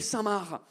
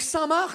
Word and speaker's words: Saint-Marc: Elle m'a demandé d'acheter une lessive qui s'appelle Saint-Marc. Les Français, on est d'accord que Saint-Marc, ça s'écrit M-A-R-C. Comme le prénom Marc. Mais vous mettez un Saint devant le Marc et le C, il part en grève.